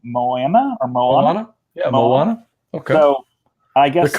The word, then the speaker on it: Moana: them of the Disney movie, I'm going to mispronounce this name, Moana? Moana? Yeah, Moana.